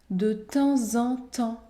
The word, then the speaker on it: de temps en temps: temps en temps au ici la liaison est obligatoire dans cette expression figé de temps en temps de temps en temps de temps en temps au de temps en